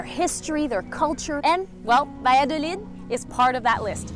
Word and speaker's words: Valladolid: Today we're going to Valladolid. I'm told that's not how you say it. How do we say Valladolid? What's the right way to say it? Valladolid. Valladolid. Valladolid. Gracias. Now we know.